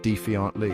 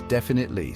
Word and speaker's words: definitely: People throw in extra syllables, they swap sounds around. It's a mess. The most common mistake I hear is defiantly.